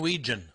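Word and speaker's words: Wetjen: Caden Weegen. Weegen. W-E. Oh, he's Weegen. still around? Yeah. T-J-E-N, I believe. Yep. It's spelled Wetgen, but it's pronounced Weegen.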